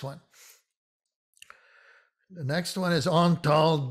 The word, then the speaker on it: Antal: the next one is antal dorati and this also illustrates the ah versus the ah it's on tall without the accent dorati with the accent